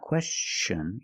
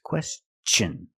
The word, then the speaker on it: question: It's not question, it's question. Use the hard ch sound because the T-I-O-N is after an S.